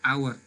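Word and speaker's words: hour: Cara pengucapannya adalah our, ya. Our. A itu berarti huruf vokal, maka dia diikuti oleh n.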